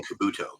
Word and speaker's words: Kabuto: you say the second giant citizens uh citizen Kabuto Kabuto okay yeah so that was like would you